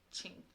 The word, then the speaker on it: Qing: it's spelled q-u-i-n-g but it's pronounced ching instead of like a q sound yeah yeah so it